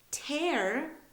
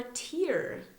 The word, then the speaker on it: tear: that lady is from Poland all right next tear or tear let's see tear is a noun that's a